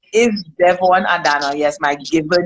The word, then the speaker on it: Devonne Adanna: this is the lovely Devonne Adanna, the CEO.